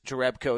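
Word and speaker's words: Jerebko: so uh Jonas jereco it's Jonas jereco is the pronunciation uh according to basketball reference uh so let these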